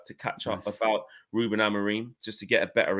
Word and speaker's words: Amorim: I've spoken to a lot of Portuguese experts, over the last couple of weeks, and they all say Amorim.